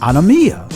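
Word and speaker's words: ἀνομία: of iniquity the Greek word for iniquity is pronounced on amia which means violation of the law wickedness transgression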